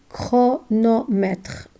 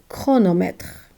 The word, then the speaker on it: chronomètre: When C followed by H before the consonants R and L, and in words of Greek origin, we pronounce them K. For example, chronomètre, chronomètre.